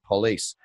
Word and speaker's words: Pulis: Now, I've got Dave Pulis, who sounds like you pronounce it police, who's the CEO at ZBX Exchange.